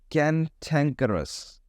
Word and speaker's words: cantankerous: Cantankerous. इसको हम लोग अगर break करें तो first you will say can, then you will say tan, and then you will say crus. So cantankerous. Someone who stays angry all the time.